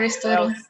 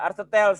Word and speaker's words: Aristotle: Beda ya? In English pronunciation-nya Aristotle. Ya, oke. Yes. Oh, ada orang Inggris juga ya. Makasih ya. Ya, Aristoteles gitu.